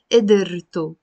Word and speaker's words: قدرته: You see here I pronounced it قدرة. There is a سكون on the دال. Here I'm pronouncing it as if you're putting like a كسرة under the دال. قدرته his ability.